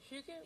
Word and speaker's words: hygge: And then I will tell you guys something about the hygge we have in Denmark. This is how you pronounce hygge.